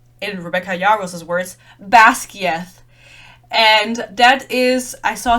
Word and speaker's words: Basgiath: and said, oh, the War College is called Basgiath. And then the woman said, oh, I thought it was pronounced like this.